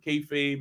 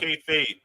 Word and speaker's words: kayfabe: Justin, tell us about what's going on with We Talk Wrestling and kayfabe and all that good Talk stuff. K-Fade, Fab.